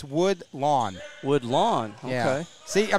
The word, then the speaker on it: Woodlawn: Yeah, Grace Booth, she taught me, I've been saying it wrong, it's Woodlawn.